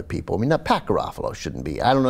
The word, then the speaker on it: Garofalo: Minnesota State Representative Pat Garofalo, I believe is how his name is pronounced. Garofalo. Garofalo, Janine Garofalo's cousin.